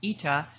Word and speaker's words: eta: Demand elasticity, denoted by this funny looking N pronounced ETA, is a key metric for understanding consumer sensitivity to price changes.